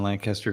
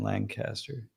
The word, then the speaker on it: Lancaster: Damn, 180,000 new Amish voters are registered in Lancaster. Jeff, you technically you don't live in Lancaster, but you live very close by. It's funny. I know you're from Ohio because you don't say it correctly.